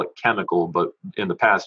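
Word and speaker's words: chymical: So today we call it chemical, but in the past it's spelled chemical, C-H-Y-M-I-C-A-L-L.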